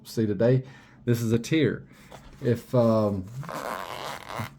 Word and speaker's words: Tyr: it was very similar to the knife that you'll see today this is a tear if um if you were an ancient Norse it would be pronounced Tia um from the best